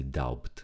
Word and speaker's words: doubt: The B is silent. We don't read the B. Don't say doubt.